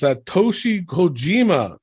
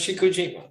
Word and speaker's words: Satoshi Kojima: Up next, we have John Moxley versus Satoshi Kojima. Did I pronounce that right, Elio? Yes, sir. Okay, thanks. Satoshi Kojima.